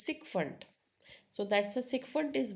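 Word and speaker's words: sycophant: how for this category it's not psychopant it's sikont so that's a sundant is buttering or flattery right that's a sikfant Then next is dictionary.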